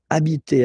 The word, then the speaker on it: habiter: just because, of course, it's starting with H, but as I said, you don't pronounce it. So the first sound you hear here is the vowel.